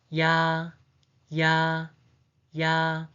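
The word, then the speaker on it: ㅑ: The second one is ya, ya, ya. The pronunciation is ya, ya, ya.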